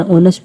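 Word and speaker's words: honest: इसी तरह से ऑनेस्ट है। ऑनेस्ट को हम ऑनेस्ट कभी भी नहीं पढ़ते क्योंकि इसका जो पहला वर्ड एच है वो साइलेंट होता है। इसको हम क्या पढ़ते हैं? ऑनेस्ट पढ़ते हैं।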